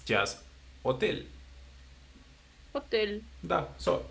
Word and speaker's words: hotel: for example, in English, there will be hotel. Okay? Yeah. But in Spanish it's just hotel. Hotel. Da. So it's like the H doesn't even exist.